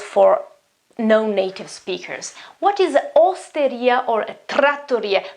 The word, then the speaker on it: osteria: The pronunciation is difficult because you have two R sounds, and we know that the sound is quite strong in Italian, tr, tr, and you have a double T here, so the consonant is longer, so trattoria.